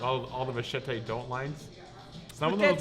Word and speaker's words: machete: Like all the Machete don't lines.